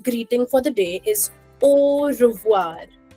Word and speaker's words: au revoir: Now, one last greeting for the day is au revoir. Au revoir. Au revoir.